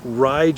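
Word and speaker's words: Ryde: Also, the BYU ride shuttle, so that's spelled R Yde D.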